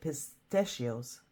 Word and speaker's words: pistachio: some almond milk with pistachios uh cracked Pistachio Pistachio yeah that is the right pronunciation in English I think I always mix it up with the Italian language where it's pisto but that doesn't matter